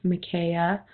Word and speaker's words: Micaiah: I know some people don't know how to pronounce that, so that's the pronunciation. It's Micaiah.